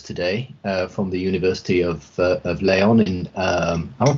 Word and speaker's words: León: But we're very grateful today to have Alexis Fernández with us today from the University of León. Am I pronouncing that right, Alexis? Yeah. León.